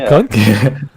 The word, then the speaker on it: Kant: Manuel Kant? That's the correct pronunciation, actually.